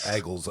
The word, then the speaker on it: Eagles: thing it says is pronounce the word eagles with i igles i g yes that's